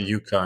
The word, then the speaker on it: Yukka: there's a Finnish name, how you pronounce it, Yukka. But we say Yukka. Yukka in German.